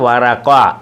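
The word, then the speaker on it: ورقة: വറഖത്തുൻ അതായത് വറഖ. താഇനെ പറയത്തില്ല, ഉച്ചരിക്കത്തില്ല. വറഖ വറഖ വറഖ. കടലാസ് കഷ്ണം. വറഖ വറഖ കടലാസ് കഷ്ണം. വറഖ വറഖ കടലാസ് കഷ്ണം.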